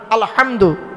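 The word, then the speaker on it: الحمد: আলহামদু, এ গলার ভেতর থেকে এটা উচ্চারণ করবেন।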